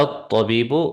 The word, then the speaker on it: الطبيب: Just a reminder, طبيب, and when you put the alif lam, we want to make sure we connect it and we don't pronounce the hamzatul wasl. So you would say هذا الطبيب من الهند.